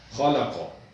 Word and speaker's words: خالق: حروف میں سے ہے، ان دونوں کو ہم نے موٹا کرنا ہے۔ خالق، اگر اس کے جوڑ یا ہجے کرنے ہوں تو اس طرح کریں گے، خا زبر خا، لام زبر لا، خالا، قاف زبر قا، خالق۔ اس کے بعد ہے